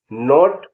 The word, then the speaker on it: knot: KNOT, नॉट, नोट माने गांठ। L silent होगा, उनके बारे में आपको उन वर्ड्स को ध्यान से सुनिए।